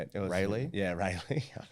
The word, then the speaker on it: Raleigh: raleigh i don't know how you say it rayleigh yeah rayleigh ray lee rayleigh yeah um we were in the middle